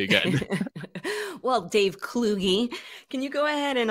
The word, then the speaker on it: Kluge: how to say it if you introduce me as Dave cludge or cludy whatever it was I just nod and smile it is kugie yeah you got it